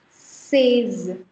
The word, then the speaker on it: seize: And then there is seize. Seize. EI is A, so it becomes seize.